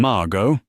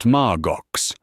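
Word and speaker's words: Margaux: "You mean Margo, not Margox?" he sneered, exaggerating the sound to humiliate her. His guests chuckled. Anna froze. She had pronounced it correctly, but she bit her tongue.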